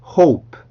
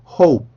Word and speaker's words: hope: 여기에서는 O 반드시 이중모음이기 때문에 시작 입술 모양과 끝 입술 모양이 같으면 안 돼요.